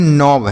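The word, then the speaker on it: knob: इसे हम पढ़ते हैं नोब।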